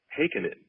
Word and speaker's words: Heikkinen: That's Heikkinen, for those of you who don't know how to pronounce the name.